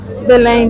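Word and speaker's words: Belém: ये जो है ये एक टूरिस्ट प्लेस ही है, इसके नाम तो हैं BELEM, लेकिन जब हम इसको प्रोनाउंस करते हैं तो हम इसको बेलें करते हैं।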